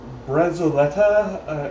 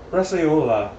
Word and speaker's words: bresaola: in here they use brezoletta, and I'm not pronouncing that right. It's basically they use a cured beef and such as brezoletta? There's no T in there. Bresaola.